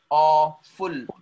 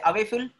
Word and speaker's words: awful: Awful, awful, awful. Do we say awayful? No. Awful, acting like O.